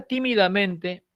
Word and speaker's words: tímidamente: Así que si la palabra tímidamente, si esta palabra tímidamente es una palabra ditónica, ¿sí?